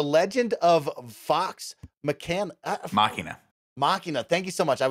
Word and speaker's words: Machina: show uh the legend of fox mccann machina machina thank you so much i was gonna say